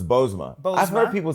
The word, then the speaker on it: Bozoma: Bozoma, because the second O is silent.